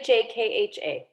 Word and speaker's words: Shakha: not a spell so my dad at one point told me I say my own name wrong but it's in Indian in Gujarati there's like there's two letters there's one that's a K and then when that's a KH and so that's what it is it's still Chaka I